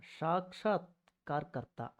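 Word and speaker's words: साक्षात्कर्ता: சாக்ஷாத் கர்த்தா. இந்த கார்கர்த்தாங்க மட்டும் ஞாபகம் வச்சுக்கோங்க, உங்களால் ஈஸியாக இந்த வார்த்தையை உச்சரிக்க முடியும்.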